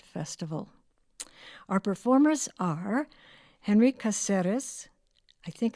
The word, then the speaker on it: Caceres: Caceres.